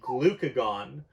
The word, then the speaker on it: glucagon: of the pancreas make glucagon okay and make sure you pronounce this correctly and spell it correctly because this looks a lot like glycogen which are very different things so glucagon is made